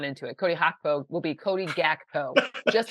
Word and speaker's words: Gakpo: Gakpo.